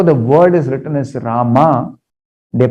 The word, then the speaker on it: Rama: to pronounce krsna's krishna or rama as ramo there is no mistake considered in their chanting but if somebody who's not speaking bengali who is not naturally speaking bengali way for them to say hare ramo is not necessary it's not correct it's not good it's not proper uh next question how